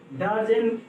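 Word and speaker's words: Darzens: इस प्रोसेस का पूरा नाम है डैरेन, ऐसे इसको डैरेंज भी पढ़ते हैं, सॉरी डैरेंज नहीं, डार्जेन होना चाहिए, हाँ डार्जेन।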